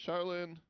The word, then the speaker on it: Shaolin: Yeah, I just um, so you've taken, and I apologize how to pronounce it. Is it Shaolin? Yeah, Shaolin Kung Fu.